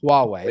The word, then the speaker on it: Huawei: this by the way is it Hui wuwei Huawei Huawei that's right like which controls 30%